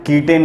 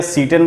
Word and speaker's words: cetane: उसको ग्रेडिंग करते हैं कीटेन नंबर से। तुम कीटेन बोल सकते हो या सीटेन बोल सकते हो, वो तुम्हारे ऊपर है क्या प्रोनाउंसिएशन करते हो।